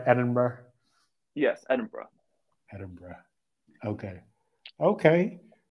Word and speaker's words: Edinburgh: go we did travel up to Scotland in Edinburgh just for a couple days and yeah that